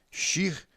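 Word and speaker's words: שיר: está à direita então o som Dessa letra é sh porque ela é Chin e não sim sim seria no caso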